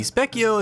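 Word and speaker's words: Spekkio: Specio changes according to your collected TP. I'm pretty sure first form is kind of a secret. Oh, really? Interesting. I didn't know that. from a wiki. Specio is a phonetic spelling of the Italian word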